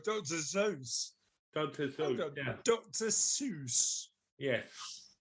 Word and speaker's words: Seuss: Dr. Seuss. Yes. Why it's spelled Seuss. So I think that's Dr. Seuss, not Dr. Zeus.